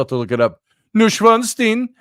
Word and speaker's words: Neuschwanstein: It's called Neuschwanstein. Here, look at it. I'll show you a picture. Let's see. It's spelled different. Neuschwanstein.